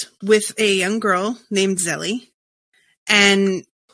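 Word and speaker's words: Zélie: Zelie? Is it Zelie? Yeah, I'm sorry. Go on. We're in the beginning. Is it Zelie? Oh, yeah, it is. It's Zelie.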